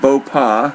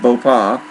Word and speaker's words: Bopha: typhoon a super typhoon I believe you pronounce it boa the pH is silent so there's no F sound it's just boa and top winds are